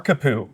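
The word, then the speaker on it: Kapu: How do you pronounce that? Bar kapoo.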